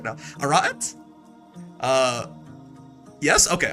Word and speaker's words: Arete: Also stress the second A. Arete? Is that right? I feel like I'm in a linguistics class right now. Arete? Yes? Okay, Arete.